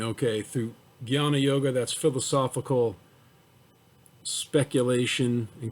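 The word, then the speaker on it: jnana: of selfless service so guyana it's spelled j n a n a but it's pronounced like a g y a so he's saying okay through guyana yoga that's philosophical speculation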